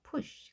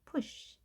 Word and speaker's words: push: US 이번에는 자요 표시 Bush 자부 이렇게 하는 것이 아니라 가볍게 짧게 p 우리가 물론이 글씨를 한글로 표 때 이렇게 쓰지만 푸쉬가 아닌 거죠 push 가볍게 push이 느낌을 살려서 발음을 해야 되는데요 할 수 있을까요 bu